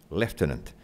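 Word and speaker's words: lieutenant: his Quebec latina or I think I have to pronounce leftenant and his possible successor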